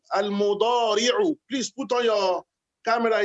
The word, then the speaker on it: المضارع: Someone is pronouncing it as if he's pronouncing al-mudariru, not al-mudariru, al-mudari'u.